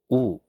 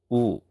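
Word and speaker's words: ㅜ: Oo. Oo. Oo is similar to the oo sound in English words like moon or fruit.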